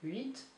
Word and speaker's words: huit: Huit, you do pronounce the T, huit.